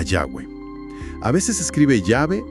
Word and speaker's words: Yahweh: Concluyen que lo más probable es que sonara algo parecido a Yahweh.